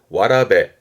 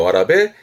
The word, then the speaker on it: 童: 발음이 어려워요. 와라베. 많이 보여진 않습니다만은 그래도 훈독도 있으니까 봐두시고요. 와라베.